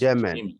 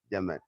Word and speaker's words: Jamin: My name is pronounced Yemen. Yes, David. Yemen. Oh, like German, country, Yemen.